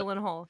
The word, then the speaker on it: Gyllenhaal: Is that pronounced it? Gyllenhaal, yes.